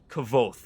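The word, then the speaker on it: Kvothe: it took me forever it's kaval cuz he meant it to sound like quote so both it's like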